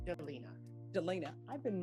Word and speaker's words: Delina: how do you pronounce your first name Delina Delina I've been mispronouncing it forever uh state of Texas versus